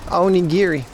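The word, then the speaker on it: onigiri: How about a little tuna mayo on giri? That's the proper pronunciation for it, too.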